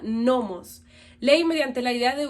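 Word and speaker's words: νόμος: Esta palabra se pronuncia nomos.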